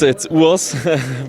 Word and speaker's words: Urs: How do you officially pronounce your name? I don't want to say it because I love the name Urs in the US. I just told my girlfriend before this pronouncing is so cool for me, and I wish they would also do it in Germany like the Urs. But at the end of the day, it's Urs.